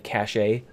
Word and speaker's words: cache: The remaining instructions and the data are stored nearby in a high-speed memory called the cache, or the cache. I've heard it pronounced both ways, cache or cache.